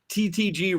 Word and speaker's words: TTG: being sarcastic or joking TTG rhymes with three we thought that it